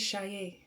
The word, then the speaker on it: Saye: It is Shai. Okay? It's If you think of Shade and you take out the D, you swap it with the Y.